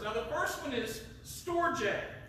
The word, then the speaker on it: storge: Now, the first one is storge. Storge, okay? That's how it's pronounced.